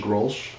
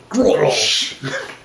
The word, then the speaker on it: Grolsch: Is that how you pronounce it? Grolsch? Grolsch.